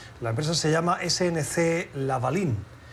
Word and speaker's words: Lavalin: La empresa se llama SNC Lavalin y parece ser que... Sí. Lavalin, pronunciado en francés, gracias Antonio.